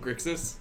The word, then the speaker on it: Grixis: was actually at a Magic tournament, and I got recognized by someone because of my mispronunciation of Grixis. Nice. Because I said Grissix, and the guy's like, I thought I recognized you.